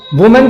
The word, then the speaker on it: women: वुमेन का example मैंने बताया वुमेन डॉक्टर। वुमेन एक वर्ड है जिसका प्लूरल क्या होता है, विमेन, WOMEN, इसको प्रोनाउंस करते हैं हम लोग विमेन।